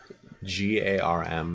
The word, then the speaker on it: Garm: Garm, that is, by the way. Garm. With a roll in the R. But if you can't roll your R's, that's fine.